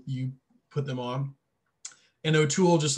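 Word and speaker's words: O2L: This album's called Eat a Pickle by the group O'Toole, and you spell that the letter O, the number 2, the letter L, O'Toole.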